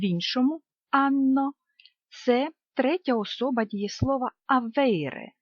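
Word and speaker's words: hanno: в різних мовах Отже ця літера не вимовляється вона неніма але грає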